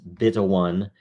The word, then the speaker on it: 0xb1: This is episode 0xb1, pronounced beta 1.